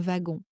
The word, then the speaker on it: wagon: bonnes chances de que le W se prononce comme un V. Voilà quelques exemples. Un wagon.